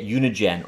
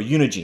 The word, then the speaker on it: Unigine: Today, we're going to look at Unigine, or Unigine. I'm going to call it Unigine. You can pronounce it either way, I think.